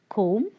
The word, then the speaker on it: comb: First one, comb, tomb, thumb, dumb. The sound B is silent.